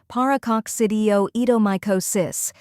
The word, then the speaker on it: Paracoccidioidomycosis: the correct pronunciation is paraco cidio eom micosis first we have par where it sounds like the par in parrot then a which is